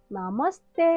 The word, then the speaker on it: नमस्ते: साथ में सीखें~ नमस्ते! मेरा नाम योनजना है। आज हम नेपाली भाषा के अभिवादन सीखेंगे~ पहला शब्द है ‘नमस्ते’। इसका मतलब है ‘नमस्कार’ या ‘हैलो’। एक बार साथ में उच्चारण करें?